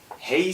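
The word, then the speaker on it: Hej: Hey Sweden이라고 발음을 하고 쓸 때는 H-E-J Sweden.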